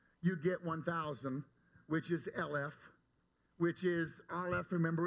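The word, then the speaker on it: אלף: still spelled the same as Alf but it's pronounced LF and it so Alf the letter Alf can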